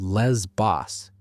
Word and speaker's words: Les Bos: Garrison visits a lesbian bar called Les Boss, which is pronounced in the French style.